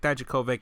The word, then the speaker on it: Dijakovic: But you just pronounced it. That was the right pronunciation of his last name.